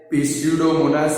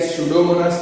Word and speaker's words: Pseudomonas: पिस्यूडोमोनास मत बोलना, स्यूडोमोनास P silent है।